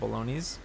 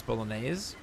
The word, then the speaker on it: bolognese: You actually just called it bologn. It's bolognese.